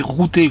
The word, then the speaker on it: Routot: la prévision sur Routot oui ça se prononce à priori Routé je les ai entendu le dire.